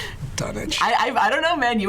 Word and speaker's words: Dunwich: Of course, this is also from the person who pronounces it Dunwich. Oh, come on. Oh. That's because that's how it's pronounced. Dunnage.